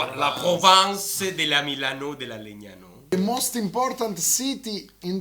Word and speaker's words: Legnano: In the Italian language, this is g, and this is n. It's a kind of n. And together it's not gn, it's gn. So Legnano, okay?